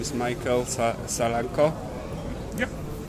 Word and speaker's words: Salako: Your name is Michael Salako. Yeah, right. Do I pronounce it well?